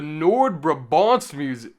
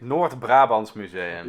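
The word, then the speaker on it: Noordbrabants Museum: Next up, the Nord Brabbants M. Okay, I'm butchering the pronunciation. What? What is it, JP? Nord Brabbants Museum.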